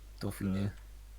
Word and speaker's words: Dauphiné: Dauphiné. The Okay. accent on the last E is triggering me because it's so unusual.